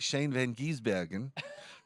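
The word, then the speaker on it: Shane van Gisbergen: press conference in Nashville so I got the pronunciation right Shane Van giesbergen that's pretty good he's Australian Next News he's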